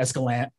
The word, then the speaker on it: Escalante: the creation of the Grand Staircase Escalante National Monument, Escalante, sorry. as a native Nevadan, I get very angry when people pronounce it wrong.